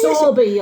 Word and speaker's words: Sowerby: We get stick every time we try and pronounce Sowerby Bridge. I know, It's Sowerby, a foreigner.